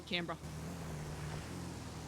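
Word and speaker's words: Canberra: it's pronounced uh try Cambra Cambra it's spelled like cber but you just say camra just reminds me of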